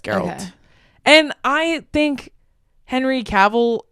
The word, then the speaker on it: Geralt: games what's his name geralt geralt you're right but it's pronounced with you pronounce the g g geralt yeah it's geralt and I think Henry